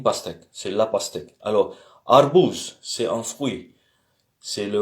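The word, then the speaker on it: арбуз: Alors, A, comme dans papa. Et on a vu l'exemple de euh, euh, c'était quoi? Azbuka. Ça veut dire l'ABC, l'ABCD. Et donc on a ici arbouz.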